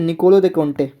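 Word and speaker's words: Niccolò de' Conti: सबसे पहले आते हैं निकोलो दे कोंटे। निकोलो दे कोंटी, कोंटे जैसे ही प्रोनाउंस करते हैं।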